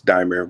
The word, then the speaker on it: Dimir: What's going on, Demir? Is that right? Is that how you say it? We can live with that. It's Dimir, but thanks for having me.